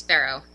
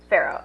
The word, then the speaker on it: Farough: Is it Farough? Is that how you say it? Yeah, it's Farough. Farough.